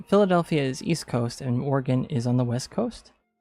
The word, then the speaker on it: Oregon: You look at Oregon and you think that's spelled like polygon hexagon Oregon and that's no. Unfortunately, it is Oregon like you're you have a gun.